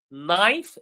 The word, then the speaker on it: knife: So, knife, the K is silent.